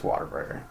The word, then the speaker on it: Whataburger: Even though it's spelled W-H-A-T, say water. Yeah. Come on. It's Whataburger.